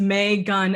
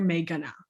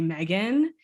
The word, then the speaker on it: Megan: So it's May gun, like the sound you make when a Q-tip's in your ear. May gonna.